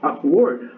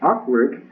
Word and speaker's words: awkward: Um, Él dijo awkward En la primera pronunciación que yo dije, awkward, es donde estoy dando en esa primera sílaba el acento. Él se lo estaba dando en word, que es la segunda sílaba.